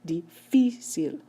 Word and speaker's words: difícil: Difícil. How do I know the stress is moved over? Because that's how native speakers pronounce. When a native speaker says the word, they say difícil. They do not say difícil.